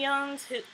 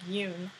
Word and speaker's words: Youn: isn't similar to Anthony Young's it's not young it's like Yoon um maybe I'm pronouncing